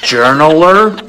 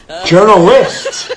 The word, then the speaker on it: journalist: who journals is a it'd be journaler no journalist you don't see how it's